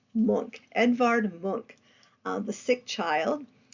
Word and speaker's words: Munch: the artist feelings Edvard monk um it's not pronounced Munch it's pronounced monk Edvard monk the sick child and he had